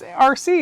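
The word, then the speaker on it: Arcee: look at that it's rc it's you no it's just right you're just rc yeah a-r-c-e-e i was trying to figure out how to say it like like arkey all right so she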